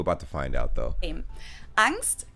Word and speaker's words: Angst: I'm pretty sure it's angst in English and then on stand German maybe I'm wrong we're about to find out though angst capitalized in German and with the German ah basically just means fear